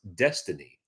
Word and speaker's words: DXYZ: DXYZ, pronounced destiny.